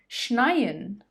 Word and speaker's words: schneien: And the verb is schneien, schneien.